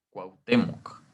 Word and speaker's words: Cuauhtémoc: Cuauhtémoc. O sea, aquí también estamos viendo un diptongo wow para referirnos Cuauhtémoc.